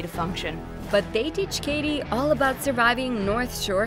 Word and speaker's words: Cady: rewind for you meet Katie Herron it's pronounced like Katie who after being homeschooled